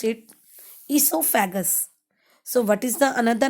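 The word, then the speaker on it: oesophagus: Students, the spelling of esophagus is starting with O, but here O is silent. So we will pronounce it esophagus.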